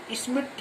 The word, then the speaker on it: Schmidt: Next हम बात करेंगे स्मिथ reaction. स्मिथ SCHMIDT, डी यहाँ पे साइलेंट है।